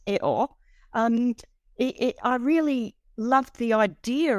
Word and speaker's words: EO: And in the film, as he is pronounced, Eo, I really loved the idea of seeing the